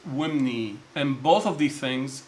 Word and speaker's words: wmny: Number one, west, which is pronounced imnet, or right hand, which is pronounced wimni.